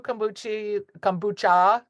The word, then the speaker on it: kombucha: Yeah, Koru kombucha, not Here you go. kombuchi.